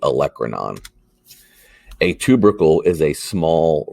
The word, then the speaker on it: olecranon: called the olecranon fossa you'll call it olacranon and i will correct you hundreds and hundreds of times but it is the olecranon a tubercle is a